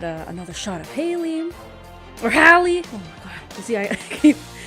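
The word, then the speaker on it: Halle: I keep saying Haley, but I think it's Hallie. We got her flipping her hair.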